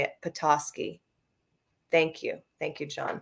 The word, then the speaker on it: Petoskey: see someone's telling me how to say it petoskey thank you thank you john petoskey i got